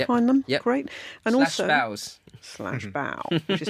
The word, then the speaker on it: bao: And /baos. /bao, which is spelled BAO.